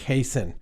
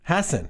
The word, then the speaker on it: Hasen: of this election season is my guest Rick hasten am i pronouncing that correctly Rick it's actually happened Hasson okay Rick is the is a professor of